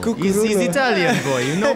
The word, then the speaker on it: Cuccurullo: Cucurullo. Cucurullo.